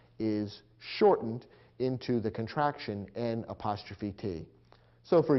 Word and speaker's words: n't: And in between, we have the adverb not, which has been contracted to n''t, pronounced int.